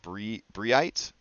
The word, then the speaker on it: Brigh: bright we've ever had I think it's pronounced briet um I'm gonna say bright um let's see so you're